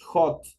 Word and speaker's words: hot: ortográfica tenemos una consonante Este es un hacha aspirada por lo tanto el momento de pronunciar es una jota el momento de pronunciar tiene unas es un hacha espirada entonces suena Hot es una H la